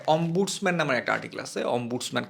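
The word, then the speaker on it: ombudsman: নামের একটা আর্টিকেল আছে অম্বুটসম্যান কেউ কেউ অম্বার্টসম্যান উচ্চারণ করে বাংলায় যেটাকে বলা হয়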